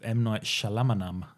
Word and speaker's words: Shyamalan: That's worthy of M. Night Shyamalan.